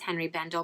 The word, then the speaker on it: Henri Bendel: born and it's actually it's French so it's actually supposed to be pronounced on Rivendell but nobody says that that way everybody just says Henri Bendel but it's only been